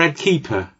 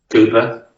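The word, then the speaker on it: Kuepper: Is it Ed Cooper or Ed Keeper? Cooper. Cooper. Spelt obviously, as people will recognise from the way I've said it. Not spelt as you might imagine Cooper to be said.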